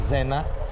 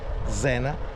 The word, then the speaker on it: Zena: mia Genova, a Zena, perché si pronuncia Zena, Zena, e questa è la Zegna.